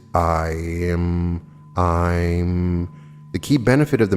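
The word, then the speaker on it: Aim: The second Bija mantra of significance is E-I-M, pronounced I'm. The correct intonation is I'm.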